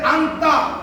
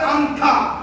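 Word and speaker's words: 앉아: কি চপস্টিক এরপরে কিছু এই যে আন্তা এটা উচ্চারণ হবে আন্থা এটা উচ্চারণ কি হবে আন্থা কেন হবে গ্রামার শিখিয়েছি আবারও শিখাবো আন এটা কি আন্থা তা হবে তা হওয়ার কথা ছিল কিন্তু এখানে উচ্চারণ করবে আন্থা মানে আন্থা যোদ্ধা মানে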